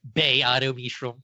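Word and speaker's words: Ba-Ado-Mishram: I say Ba Edo Mishram. Don't you mean Bay Auto Mishram? Well, sometimes. Look, if it's a long A on that first one, then that's fine.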